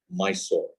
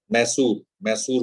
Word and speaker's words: Mysore: National Institute of Engineering, Mysore. Because Mysore है, इसको हिंदी में लोग मैसूर बोलते हैं इसको, मैसूर। तो इसमें स्पेलिंग जो है वो Mysore, but it's actually मैसूर, because he was English.